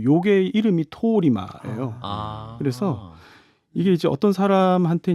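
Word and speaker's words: 通り魔: 자, 일단 도리마 살인이라고 제가 이제 말씀드렸는데 도리마가 이제 일본어로 길거리 악마라는 뜻이라면서요. 네. 이게 언제부터 이 용어가 생겼던 겁니까? 이게 이제 우리나라에서 이제 도리마 이렇게 얘기하는데 사실 이제 발음이 이제 토리마 약간 긴 토리마.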